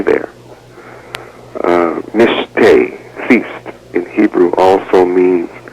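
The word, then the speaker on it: משתה: feast in Hebrew is the word Mish it's pronounced Mish spelled in Hebrew MIM Shin T hey and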